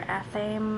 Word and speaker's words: athame: We have an athame or athame. I've heard it pronounced multiple ways. Athame is how I've always said it, so that's what I'm going with.